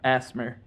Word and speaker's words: ASMR: Asmer. It's pronounced asmer.